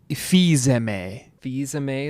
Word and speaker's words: Fils-Aimé: Fils-Aimé is how you say it? Yeah. God, really struggling with pronunciations this season.